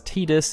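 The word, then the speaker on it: Tidus: though he has had his name pronounced as tedious in Dissidia world of Final Fantasy and the Final Fantasy 10 audio drama which has confirmed Square Enix's official stance but even some Square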